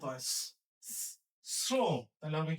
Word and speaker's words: শ্রম: তালবসের সাথে রফালা থাকলে তালবসের উচ্চারণ ইংরেজি এস এর মত হয়। শ্রম তাহলে হবে কি শ্রম